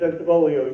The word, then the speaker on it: Bentivolio: You got to sing when you say it. Bentivolio.